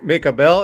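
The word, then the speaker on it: Mick Abel: prospects you mentioned uh I guess it's make a bell is that how you say his name yeah yeah yeah yeah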